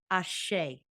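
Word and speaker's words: ashe: outside and so we recognize that the next syllable is ashay a-s-h-e and that's when we collapse the dualities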